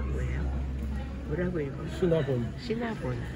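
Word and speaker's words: Cinnabon: 시니본인가 뭐예요? 뭐라고 읽어? 시나본.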